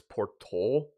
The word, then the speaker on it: Porto: It's Porto.